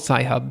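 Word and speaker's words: Sci-Hub: also a website that rhymes with cry hub um that people use um okay it's called sci hub people will use it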